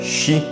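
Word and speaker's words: 四: sinal de má sorte isso porque a sua pronúncia em um dos dialetos japoneses é xi que é exatamente a mesma pronúncia da palavra morte e isso deu origem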